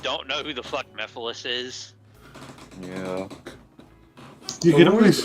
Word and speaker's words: Mephiles: Mephiles.